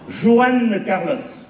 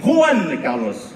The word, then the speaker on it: Juan Carlos: Juan Carlos. On ne dit pas Juan. En Espagne, les J se prononcent re. On dit Juan Carlos.